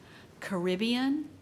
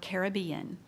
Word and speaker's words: Caribbean: This word has two pronunciations, Caribbean or Caribbean.